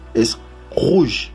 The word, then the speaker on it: rouge: Es porque la combinación entre la O y la U en francés se pronuncia como la U del abecedario español. ¿Sí? Es rouge.